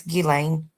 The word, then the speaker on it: Ghislaine: um It's Ghislaine.